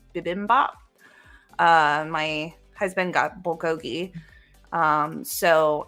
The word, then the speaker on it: bibimbap: So I ordered like some glass noodles and I think it's pronounced bibimbap.